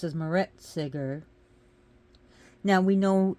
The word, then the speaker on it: Meretseger: it will be on Meretseger. She's also pronounced as Meretseger. Now we know in ancient Egyptian tongue they didn't pronounce the vowels, so it would be more like Meretseger, something like that. Meretseger, most likely.